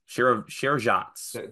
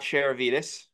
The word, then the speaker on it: Sharavjamts: Sharavjamts. There's no I there, so it's not Sharavitis.